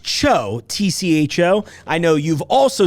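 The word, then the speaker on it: TCHO: These are in stores now it's pronounced Cho, T-C-H-O. I know you've also seen this product and gone, how do you pronounce that? Is it T-C-H-O? No, it's Cho. Like Margaret Cho.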